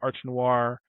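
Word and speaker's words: Art Noire: And then I hear about Art Noir. Yeah, the E is silent.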